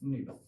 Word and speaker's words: nido: They are called NIDO, निडो boranes. थोड़ा दूर से लिखूं, आएगा नहीं। क्या बोलते हैं? निडो बोरेंस, ये इनका नाम होता है।